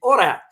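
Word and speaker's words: Oirat: armies uh destroyed the the orat I hope I pronounce it correctly it's o i r a t Empire based in jaria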